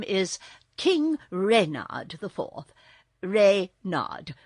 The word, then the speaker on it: Reynard: is king reynard iv rey nod with the accent on the reign what's wrong asked button